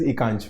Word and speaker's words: Akansh: Uh, ma'am, I pronounce it as Ekansh, ma'am. Okay, why so? My name is Ekansh, means ek and ansh.